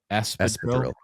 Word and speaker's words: espadrille: Espadrille.